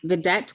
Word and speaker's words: Vedet: Vedet, will you state your name and spell it for us for the record? Sure, Vedet, and that is Vedet, V as in Victor, E-D-E-T, Coleman, hyphen Robinson.